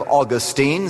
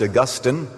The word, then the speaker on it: Augustine: what happened there was a man by the name of Austine sometimes pronounced Augustine and he wrote a